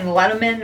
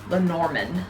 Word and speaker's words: Lenormand: time saying the name i kept on saying letterman or but it's norman that's that's how you pronounce it and these are the norman cards